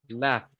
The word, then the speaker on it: laughed: Miren, termina en GH. GH quiere decir que va a terminar en una T. Laughed. Laughed. Si el verbo es en el presente, decimos laugh, porque es un sonido de una F.